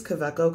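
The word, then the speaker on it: Kaweco: but they're all these quebeco collections it's a german brand so the w is pronounced with a v but basically one has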